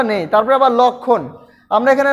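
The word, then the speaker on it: লক্ষ্মণ: উচ্চারণটা নেই তারপরে আবার লক্ষণ আমরা এখানে লক্ষণ খিয় রয়েছে খির সাথে কিন্তু ক প্লাস মূর্ধন্য স রয়েছে এবং লক্ষণের জায়গা কিন্তু এখানে মটা উচ্চারিত হয়নি লক্ষণ তারপর হচ্ছে উ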